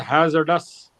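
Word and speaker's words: hazardous: after d no sir it has to be pronounced as Hazard us not haard you went on saying haard okay yes sir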